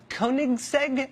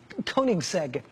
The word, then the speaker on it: Koenigsegg: the world including some Swedish thing called the Koenigsegg I think that's how you say it koe n IG s e-g Koenigsegg he had one that was one of only